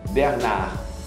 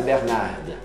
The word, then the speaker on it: Bernard: Bernard. Não é Bernarda. Não pronuncia o D nesse caso.